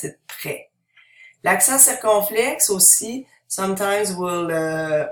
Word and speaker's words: prêt: So, the accent circumflex doesn't change the pronunciation of the A, the I, the O, or the U, but it changes the pronunciation of the E. And we pronounce it prêt.